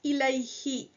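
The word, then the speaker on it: إليه: So ila plus huwa becomes ilayhi, towards him, masculine. So again, we notice that the dhamma on the huwa took a kasra on the he for ease of pronunciation. Ilayhi.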